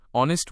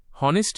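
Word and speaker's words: honest: কারণ H sound silent. শব্দ উচ্চারণ শুরু হচ্ছে ভাওয়েল সাউন্ড ও দিয়ে। সঠিক উচ্চারণ অনেস্ট। হনেস্ট নয়।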